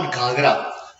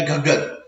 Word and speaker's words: घग्गर: जैसे ये रिवर जो है ये घागर है, इट इज नॉट घाघरा, okay, spelling में ऐसा है घाघरा, लेकिन इट इज घागर या घग्गर, ओके, ठीक है।